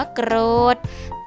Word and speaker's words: โกรธ: ทหาร เป็น ตัว สะกด ค่ะ ออก เสียง เป็น เด็ก ค่ะ คำ ว่า โกรธ ทอทง เป็น ตัว สะกด ขา ออก เสียง เป็น เด็ก เช่น กัน ค่ะ คำ ว่า ประเทศ หา ศ.